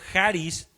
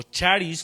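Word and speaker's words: χάρις: Según el el diccionario griego, la palabra gracia del griego haris o charis, como le quieras pronunciar, significa tener un favor hacia alguien.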